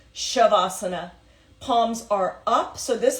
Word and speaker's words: shavasana: pose AKA corpse pose shavasana is spelled s i v shiv it has a sha sound even though there's no h SI IV as an a sasana pronounced shavasana Palms are up so